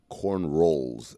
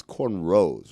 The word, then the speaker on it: cornrows: But I want to ask a question because Bill pronounced it corn rolls, and I hear people sometimes say corn rolls. It's corn rows, right? That's what I said. It's a row.